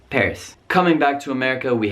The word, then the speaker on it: Paris: Or maybe you want to take a trip to Paris, France, not Paris, just Paris.